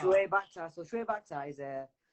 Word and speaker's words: Shoaib Akhtar: I don't know how to pronounce that. How do you know, what is it, Shua Akbar? Shoaib Akhtar.